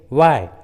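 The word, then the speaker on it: why: जैसे what, when, वाई, which, where, देखिए सभी इंग्लिश वर्ड्स में एच डब्ल्यू के बाद आया है, इसलिए एच साइलेंट है, एच का उच्चारण नहीं किया गया है।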